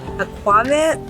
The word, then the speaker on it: aquavit: Right here on the west side of Santa Cruz, specializes in small batches of organic, locally sourced gin, whiskey, aquavit, you say it like that, aquavit, and blue agave spirits.